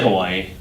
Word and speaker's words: Hawaii: By the way, how do you say Hawaii from me real quick? I say Hawaii. A lot of people will say Hawaii is the proper.